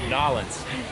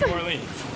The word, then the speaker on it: New Orleans: I'm saying it right, Nolans. New Orleans? New Orleans.